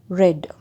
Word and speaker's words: read: one more thing for read the pronunciation alone will be changed for example read read and red past tense and the past participle we should only change the pronunciation red and red like this so many